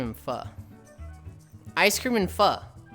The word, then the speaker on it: pho: The Vietnamese pronunciation is, yeah, but most Westerners just say pho.